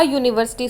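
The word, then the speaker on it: university: ही इज अ यूनिवर्सिटी student. अब हम यूनिवर्सिटी को जब प्रोनाउंस करें तो वो हमें वाई यू का साउंड दे रहा है ना कि हमें अंब्रेला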